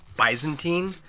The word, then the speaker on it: Byzantine: That's how I pronounce it. I hear some people pronounce it bisantine and from baantium. I don't know if that's correct. I don't uh I've always called it Byzantine or I've always read it that way.